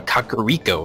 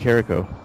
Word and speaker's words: Kakariko: dark world kikiro villa kakariko village as it's pronounced oh really i thought it was carico yeah me too i